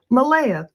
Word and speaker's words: Malaya: Malaya, that's how he pronounces it.